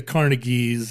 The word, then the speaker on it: Carnegie: do you remember this oh carneg you're supposed to say carnegi yeah well I I